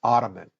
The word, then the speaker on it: Osman: they call it or they pronounce it as ottoman but it's actually Osman okay and we'll be